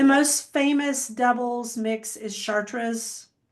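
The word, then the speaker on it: Chater's: The most famous doubles mix is Chartraas, which I'm probably not pronouncing right. It's probably Chartra. Um, but it's spelled charters only it's re.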